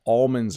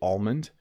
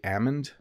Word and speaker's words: almond: and I do say almond some people in the US say Ammond I think that's how they say it I say almond I pronounce the L um I would say